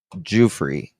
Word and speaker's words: Giuffre: Let me just make sure I'm saying it right so I don't Jereofree.